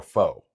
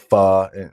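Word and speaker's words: phở: Some people call it fur and you know, it doesn't matter. They call it different things in Vietnam. Um they pronounce it both ways.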